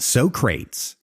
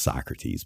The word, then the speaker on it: Socrates: the place that that Socrates describe right oh my God yeah okay I know it's pronounced Socrates but but still I